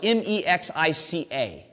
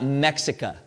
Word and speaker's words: Mexica: Mexica is spelled M-E-X-I-C-A. Okay? So it's not Mexica. Okay? We say the X like a C-H.